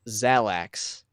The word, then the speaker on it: Xalax: I don't know, but And the album artwork says Xalax, like Xanax. Xanax with an L.